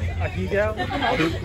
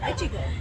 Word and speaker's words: Echigo: How do you say that, Raina? Echigo. Echigo. Is it Echigo?